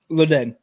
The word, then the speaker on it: Leddihn: Leddihn.